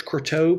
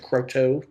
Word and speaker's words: Croteau: Pretty sure it's Croteau because Michael Lasco pronounced it Croteau when he was on there.